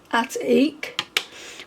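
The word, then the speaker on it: Atik: This one is called At-Eek, which is spelled A-T-I-K.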